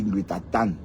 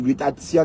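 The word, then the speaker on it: glutathion: Que Lolo dit glutatan, que on dit glutation madame glutatian et non glutaton, vous souvenez ?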